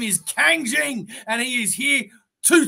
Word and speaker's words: Kang Jing: knew that see it's the Kang is easy especially being a Marvel lover right because that is